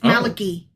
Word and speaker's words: Malachi: And I cannot spell it right. Like I keep wanting to spell Malachi with a ai at the end, but it's only I. It's Malaki.